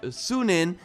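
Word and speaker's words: Sýnin: And Ashraf also notes that we can use our bird Sunin, and this is how you pronounce it, by the way, to distract enemies and then maybe sneak past them.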